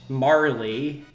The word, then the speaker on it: Marle: Marley is apparently how it's pronounced.